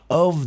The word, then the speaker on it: of: Of the right words to say. Olha a pronúncia do o F, que só tem um f. É sempre of, como se fosse ovo. Um v of.